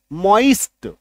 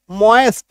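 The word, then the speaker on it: moist: एच होइस्ट होइस्ट ठीक अब इसका उच्चारण आप कहीं कहीं डिक्शनरी में आप देखेंगे मॉस्ट ये य भी लिखते ई के जगह पे य लिखा हुआ आपको दिख सकता है हास्ट लेकिन यह उच्चारण थोड़ा सा कम सही है सबसे ज्यादा सही कौन सा है यह वाला यानी कि ओई ये वाला ठीक है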